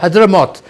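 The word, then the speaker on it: Hadhramaut: U this province of Hudra, how do you pronounce it as Hyderamoth and uh next to it is uh uh um what what's the name of that provin?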